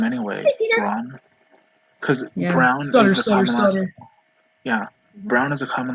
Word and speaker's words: Braun: town um that's spelled b-r-a-u-n so you would think it's braun road but it's brown road like the color brown that's weird because i